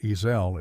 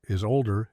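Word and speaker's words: Isolde: love triangle issue of Tristan and Esau um or EEL if you prefer or is older if you want to go German.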